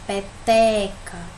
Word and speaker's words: peteca: número correspondente por exemplo na palavra peteca o qual é a sílaba mais forte peteca é o ter né pelo seu com mais